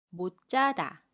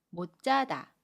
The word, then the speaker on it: 못 자다: 마찬가지로 받침 시옷과 첫소리 자음 지읒이 만나요. 그러면 못 자다 라고 발음합니다. 받침 시옷은 받침소리 디귿으로 발음하고 첫소리 지읒은 짜로 발음해요. 그래서 못 자다, 못 자다로 발음합니다.